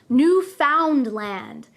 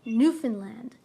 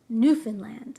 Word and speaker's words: Newfoundland: Be careful though, many people who are not Canadian try to pronounce this word as Newfoundland. We do not pronounce it that way. We say Newfoundland, Newfoundland.